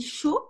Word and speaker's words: chaud: Parce que chaud, ça se dit chaud, on entend O, mais ça s'écrit A-U-D.